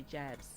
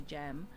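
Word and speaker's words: jambs: We call them the jabs um the jam, but it's spelled J A M BS, but it's a silent uh B.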